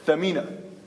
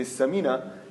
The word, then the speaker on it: Thamina: The actual meaning, the actual word is Thamina, which means something valuable, right? But when you mispronounce it and say Samina, you have totally changed the meaning.